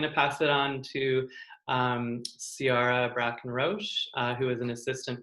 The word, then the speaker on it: Ciara: It's Ciara, like K-I-R-A. Ciara.